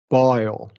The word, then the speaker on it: boil: Boil. Yeah. Boil. Yeah. We're adding that schwa, right?